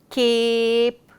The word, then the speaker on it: cape: his power to A, the word cape, A says his own name and the E has become silent. So, cape is spelled C-A-P-E. That is the story of the magic E.